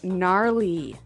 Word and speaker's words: gnarly: the ski instructor say gnarly gnarly run yeah gnarly so an interesting word it's spelled g n a r l e y okay so but you don't say gnarly no you say gnarly yep and a related